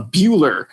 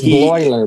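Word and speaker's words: Bleuler: He might have taken a day off, but it's Bloiler, by the way. Bloiler, thank you, Alan. Bloiler. Oh, geez, it's not an I, it's an L. Sorry, Bloiler.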